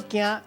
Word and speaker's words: 健: 今仔日小解这一日读作健，这是文音；另外鼻音读作惊，提供予观众朋友来参考。